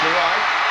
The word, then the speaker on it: Juriad: Gerard Hughes, again, he spells his name J-U-R-I-A-D. Pronounced Gerard.